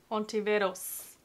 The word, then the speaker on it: Ontiveros: Ontiveros.